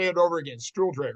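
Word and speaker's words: Stuhldreher: Stiller. Stiller.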